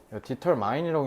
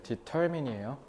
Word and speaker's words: determine: determine이라고 읽는 애도 있던데 determine이에요. 아, 7지문 오늘 그냥 다 끝내버리려 했는데 여기까지 됐죠?